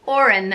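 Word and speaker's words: Odhrán: spelling for you but yeah it's the name Oran and it is spelled bode itch or a N and Oran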